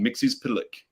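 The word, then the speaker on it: Mxyzptlk: Mixie's Pitalik.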